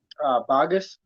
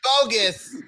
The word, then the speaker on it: Bogguess: Boggess. I knew it. told See, you! See, I was off. I was off. Wow, Your last syllables. bogus.